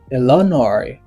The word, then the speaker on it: Illinois: The letter S is silent. See, Illinois.